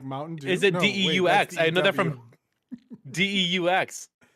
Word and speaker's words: deux: It's deux.